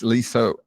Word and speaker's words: Leasa: And it's just, if you're looking for Leasa, it's Leasa, Leasa, because she's that kind of person. Just 2 extra syllables.